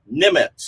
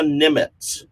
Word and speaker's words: Niemietz: Her name is Sarah Nimitz. It's spelled Niemietz. Sarah Nimitz.